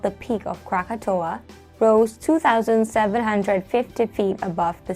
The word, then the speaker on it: Krakatau: most devastating volcanoes krakatoa krakatoa or the locals say krakatau had an eruption far in 1883.